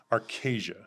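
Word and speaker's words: Archazia: Arcasia. Arcasia. That's official. That's how it's been pronounced to me. So I'm assuming that's official.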